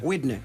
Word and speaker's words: Widner: Primero, ¿se pronuncia Widner o Widner? Widner.